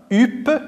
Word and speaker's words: huppe: La lettre H, écrite en rouge, ne se prononce pas. Elle est muette.